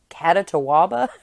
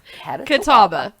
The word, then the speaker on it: Catawba: And my cousin Brittany was like, "Catatawaba?" My mom's like, "What?" Catawba. It's Catawba. Yes. We don't know how to pronounce many things, but we can pronounce that. It's Catawba.